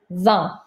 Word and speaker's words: vingt: Don't pronounce this T. Vingt.